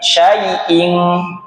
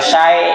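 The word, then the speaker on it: شيء: Ingat-ingat syanya besarin syaai sai. Jangan syi ining syai. Saya ulangi.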